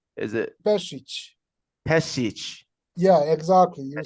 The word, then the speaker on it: Pesic: Europe that's even and last name is uh pronounced is it passage yeah exactly you're saying you know when I